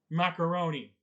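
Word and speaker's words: Maccarone: with the tubes no his name is spelled differently but it's still pronounced macaroni so you can stick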